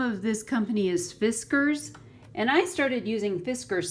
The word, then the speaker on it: Fiskars: I have literally called it Friskars. Forever, and so now I know it's Fiskars, and I don't know